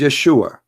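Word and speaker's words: ישוע: pronounce the correct word the correct word in the Hebrew is Yeshua as simple as that so it's because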